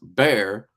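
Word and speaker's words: Bexar: tactile knifeco told me it's pronounced bear that's what tactile knifeco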